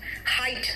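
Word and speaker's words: height: Side दृष्टि नजारा राइट ब्राइट हाइट। देखो सब में जी साइलेंट है। सॉरी एच साइलेंट है। हाइट में जो सेकंड एच है वो साइलेंट है।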